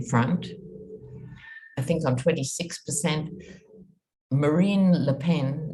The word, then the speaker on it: Marine: i think i'm 26 marine le pen no i'm not mispronouncing marie her name is marine as in marine le pen who's the daughter of